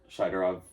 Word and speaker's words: Shaidorov: Shaidorov.